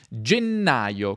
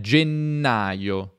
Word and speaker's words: gennaio: 6 dei suoi temi provate a pronunciare gennaio con doppia n attenzione gennaio gennaio febbraio doppia febbraio e